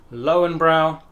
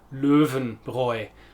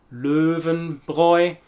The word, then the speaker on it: Löwenbräu: pronunciation because of course there are some umlauts in there and they make a big difference and make this Löwenbräu, literally the lion's brew. Löwenbräu.